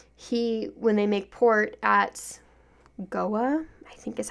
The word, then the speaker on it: Goa: fact over her, when they make port at Goa, I think is how you pronounce that city's name, Ren brings on this, blonde Barbie bimbo that he's supposedly dating and in love with.